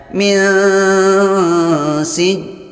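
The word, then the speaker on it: مِنْ سِجِّيلٍ: Disamarkan antara bunyi nun dan sin. Artinya bukan berbunyi nun, bukan berbunyi sin, tapi samar di antara kedua-duanya. Contohnya min sijil. Jangan dibaca min sijil, itu tidak ikhfa.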